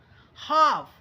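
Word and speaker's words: half: आगे देखिए हाफ, देखिए हाल्फ नहीं पढ़ेंगे, यल साइलेंट रहता है, तो हाफ of what the emperor gives you.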